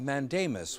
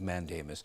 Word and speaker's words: mandamus: Today, the Illinois Attorney General and the special prosecutor in the Van Dyke case announced their petition for a writ of mandamus.